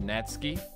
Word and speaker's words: Natsuki: British accents Australian accents natsuki is pronounced natski natski natsuki natsuki H it's